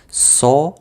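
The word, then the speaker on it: соловей: No, you see now how it's written, but it's pronounced like Solovey.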